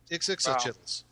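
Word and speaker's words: Ixitxachitl: How do you pronounce them? Ixixachittles. Ixixachittles.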